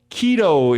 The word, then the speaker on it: Quito: are the right home keto is his name spelled with a q and that's the capital